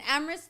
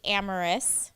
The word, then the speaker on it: Amris: then Amris, that's the way you say it, right? Amris. So, it's actually Amorous. Amris. Like an extra syllable?